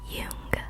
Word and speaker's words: Jung: Anyways, the subreddit specifically specified that it's pronounced Yung. So, I will be saying it as Yung despite the fact that it is J U N G.